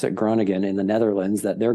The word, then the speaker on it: Groningen: I ended up, there was a team in the northern town called Groningen, is how you pronounce it, Groningen in the Netherlands, that their goalie had just left.